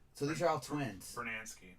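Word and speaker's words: Brunansky: gary guyetti and tom brunanski so these are all twins bernansky bernansky so i said it right that's 33 out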